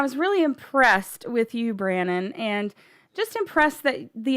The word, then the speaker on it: Branon: messing up my name it's it's Brandon it's my middle name and when I tell everybody is yes you you heard that incorrectly it's actually branded with no D right rhymes with Shannon if that helps it's also my middle